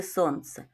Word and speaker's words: сонце: Давайте визначимо, скільки складів в слові сонце. Сонце. Так, в слові сонце два склади. Перший - сон, другий - це. А на який же склад падає наголос? Давайте покличемо сонце. Так, наголос падає на перший склад.